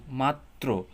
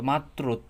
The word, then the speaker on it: মাত্র: যেমন আমরা যদি দেখি মাত্র তো মাত্র তত দেখছেন মানে মাত্র তটা কিন্তু ডাবল উচ্চারিত হইতেছে। হ্যা রফলার জন্য।